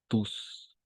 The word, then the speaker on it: tu: El, en francés va a ser tu, ¿d'accord? Para señalar tú, tu, ¿d'accord? Como un Y, tu.